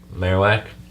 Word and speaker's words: Marowak: coolest thing about this Marowak you were subtly correcting me on the pronunciation weren't you I think so what did I pronounce it I think I said marak and you said Marowak maros makes more sense